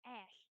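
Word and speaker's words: Ashe: That's why I was saying Ashley, because there's an E at the end of her name, but it's pronounced Ash.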